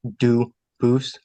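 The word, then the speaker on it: Dubois: They do pronounce it dubis, but you said you pronounce it dus as the original duboose as the original French.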